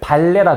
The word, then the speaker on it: 반례: 이런 거를 발레라 그래. 발레. 반례인데 읽을 때는 발레라고 읽겠지.